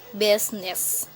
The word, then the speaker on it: business: The letter I is not usually silent. It's usually pronounced, except in the word business.